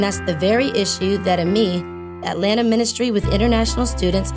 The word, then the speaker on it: AMIS: AMIS stands for Atlanta Ministry with International Students, AMIS. AMIS spells the French word for friends, so we pronounce it with the silent S. AMIS was founded in 1978 by the Reverend Dr.